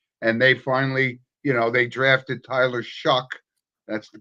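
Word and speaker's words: Tyler Shough: 1-7 or 1-9, and they finally, they drafted Tyler Shuck. That's the correct pronunciation.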